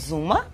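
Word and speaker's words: Xooma: Our company is called Zuma. Spell it.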